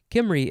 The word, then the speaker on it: Cymry: Kimry is very close to Camry, the car.